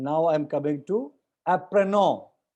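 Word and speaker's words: apprenons: And now I am coming to apprenon. Apprenon, देखो आप apprenon में लास्ट का n और s साइलेंट है.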